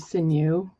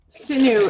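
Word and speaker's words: sinew: This was This is artificial sineu. Uh sometimes people pronounce it senue. Um, sineu is the dried tendons of an animal.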